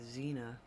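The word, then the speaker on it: Xena: It is X E N A Zena like the warrior princess.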